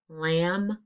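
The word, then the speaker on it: lamb: it's at the end of this keyword mb lam silent b and last one gh ghost gu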